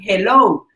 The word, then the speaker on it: hello: Entonces ya veíamos que era un saludo, ok, ahora vamos con hello, pero se escribe ello, dirían, ellos lo dicen así, ellos dicen ello,